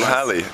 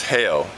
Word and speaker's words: Hale: My name isn't Halle. It's Hale.